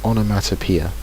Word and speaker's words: onomatopoeia: I'll pronounce it now anyway it's a is pronounced onomatopoeia and her I I wouldn't worry about this word it's uh I only learned it when I was about 17.